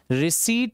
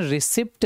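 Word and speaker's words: receipt: के लिए आता है रिसी वर्ड इसको प्रोनंसिएशन रिसीप्ट नहीं पढ़ना इसका प्रोनंसिएशन रिसी होता है रिसी वही जिसको हिंदी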